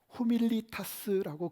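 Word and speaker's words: humilitas: 흥미로운 단어 하나가 있는데요 겸손 이라고 하는 단어를 라피 모로 후 밀리타 쓰라고 그렇게 발음을 해요 호 밀리타 쓰 그런데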